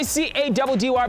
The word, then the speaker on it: Caddy: It's your boy C-A-D-D-Y, pronounced Caddy.